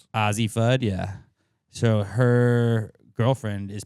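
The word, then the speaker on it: Azzi Fudd: So that's how that name is pronounced. Azie Fud.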